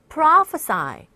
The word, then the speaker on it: prophesy: 발음이 조금 여러분들 주의하셔야 됩니다. prophesy.